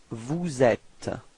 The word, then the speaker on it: vous êtes: So this small link between the S and the E, so you get vous êtes.